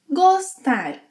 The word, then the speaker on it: gostar: So, for example, gostar, to like. In the infinitive, it has a closed O sound.